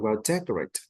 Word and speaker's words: decorated: Like, You did not enunciate the fourth sound, the fourth syllable.